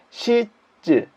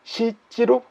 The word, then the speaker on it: 質: 음은 자, 시쯔 또는 시찌로 발음이 됩니다.